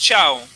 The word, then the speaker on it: Chao: Vean, Mancilla nos dice que el nombre es Chao. Chao. Sí, pronuncia Como Chao. bella, chao. Como bella, chao.